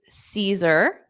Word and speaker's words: Caesar: have number one is Caesar Cesar so notice that a at the beginning isn't pronounced so Caesar Caesar Caesar